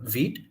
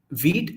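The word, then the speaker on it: Vite: Okay, we will start with first like going through another tool called Veet. This is the spelling. It's a French word, so pronounce it however you want.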